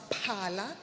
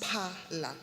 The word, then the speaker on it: Phala: My name is Phala. I know some people struggle far because of the PH, but it's okay. But it's pronounced Phala.